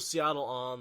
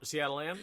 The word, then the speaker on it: Setalle Anan: And this is the Wandering Woman, Matt's home away from home, the home of Setalle Anan, the woman who is no longer, probably one